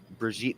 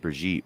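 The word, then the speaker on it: Brigitte: bridg Bridget mcon Brig I think it's pronounced brigit but it's spelled like Bridget just put in a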